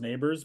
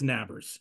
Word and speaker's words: Nabers: There's Neighbors who, I swear, I know it's pronounced Neighbors, but that's one of those things of the broadcast. You look at that, I'm like, that says Nabbers.